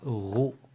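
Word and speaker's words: ρ: donc donc suffit d'être y se prononce ro comme quoi ro il caractérise la matière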